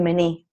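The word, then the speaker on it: mní: this is the water, the mini, which is how they say it in Lakota, and in my language you say midi.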